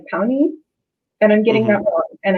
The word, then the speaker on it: Pawnee: is an actual um it's pronounced more like pony and i'm getting that